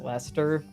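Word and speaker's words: Leicester: Like, I remember at the release of Fire Emblem The Three Houses, people being shocked that Lester is pronounced Lester.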